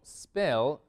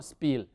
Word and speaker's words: spell: Recuerden que este verbo spell se lo pronuncia así, spell, no spill.